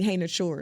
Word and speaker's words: Ihenekor: One of them is Max Ihenekor, and actually Ihenekor is how you pronounce that.